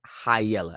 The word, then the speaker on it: high yella: That's pronounced high yella, as in you have high yellow skin.